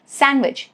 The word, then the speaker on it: sandwich: And sometimes after letter N like sandwich, you do not say it as sandwich. Sandwich.